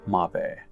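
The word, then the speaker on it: Mabe: I am calling it mave now but thank you for everybody who pointed out in that video that I should be using the Japanese pronunciation anyhow this is the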